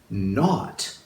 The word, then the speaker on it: knot: Our first word is not. Now, this one has a silent K in it because we're talking about like a not in your shoelace.